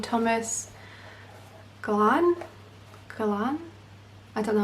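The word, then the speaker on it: Glahn: a character called Thomas Glan? I don't know how to say his name. I'm going to say Glan because it rhymes with Pan.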